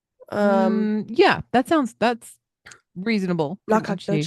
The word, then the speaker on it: Nacogdoches: my gosh, I'm so sorry about this one, Nacogdoches. Let me see. Town. Hopefully I've said that correctly. Yeah, that's reasonable Nacogdoches, pronunciation.